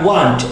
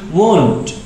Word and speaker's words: won't: Ingat, how to pronounce won't itu bukan want, tapi won't, ada t-nya.